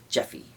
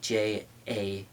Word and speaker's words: Japhy: being known only as Jeffy. And his name, yeah, it's I think it's so it's spelled Jaffe, like it's like it would be phonetically Jaffe, Japhy, but his I believe I've